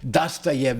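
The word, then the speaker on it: Dostoiévski: memória de subsolo do dasayev assim que se pronuncia em Russo não é Ah então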